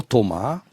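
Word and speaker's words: thauma: Alors c'est quoi le Thoma? Ça s'écrit T-H-A-U-M-A, et vous citez Platon, ou plutôt...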